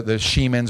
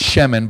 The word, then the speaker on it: Shemin: We're a very small family, the Shemins. We actually, the real pronunciation is Shemin, but in the South, no one could say it, so we go by Shemin.